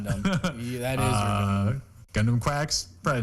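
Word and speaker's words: GQuuuuuuX: It's called uh Mobile Suit Gundam Quacks is how it's pronounced.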